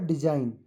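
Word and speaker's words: design: जब जोर से पढ़ोगे डिजाइन कि आपका जो जी है यह साइलेंट है। तो लेटर जी इज साइलेंट।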